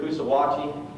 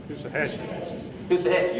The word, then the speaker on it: Coosawhatchee: And the battle's going real good at Coosawhatchee. Am I pronouncing it right? How do you pronounce it? Coosahatchee, okay.